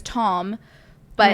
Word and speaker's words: tomb: Which is like, it looks like it should literally be the pronounced same as Tom, but it's pronounced tomb.